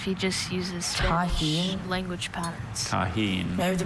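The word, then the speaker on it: Tajín: Taheen. May I have the pronunciation?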